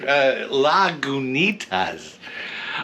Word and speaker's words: Lagunitas: This is directly from Lagunitas, which we are pronouncing it correctly because I am looking up the pronunciation on the website. Oh, very good, Travis. Very good. Lagunitas.